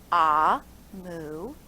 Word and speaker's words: Amu: note to the reader amu pronounced ah mu is the igbo term for queen igbo is a language